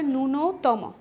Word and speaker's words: ন্যূনতম: তাহলে শব্দটির সঠিক উচ্চারণ হচ্ছে ন্যূনতম, ন্যূনতম হলে এটা ঠিক ছিল, কিন্তু তোমার সঠিক শব্দ হচ্ছে ন্যূনতম।